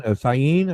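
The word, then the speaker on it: Syene: the Shadows from uh cyan cine I believe it's pronounced and Alexandria and like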